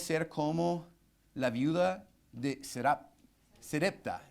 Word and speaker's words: Sarepta: Entonces debemos ser como la viuda de Sarepta. Sarepta es la pronunciación.